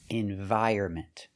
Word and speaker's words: environment: last one is meant so the N is silent you don't pronounce the N environment we're open to the